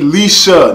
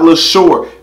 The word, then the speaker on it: Leshurr: get into it okay lady Lisa not Lesure people keep telling me look man people keep telling me that her name is less or lesser like pronunciation wise because in the comment